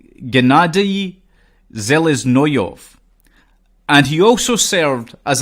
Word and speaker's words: Gennady Seleznyov: sarin and also to let me repeat that sorry Russian names are not the easiest to pronounce it has to be said so gennady seleznyov and he also served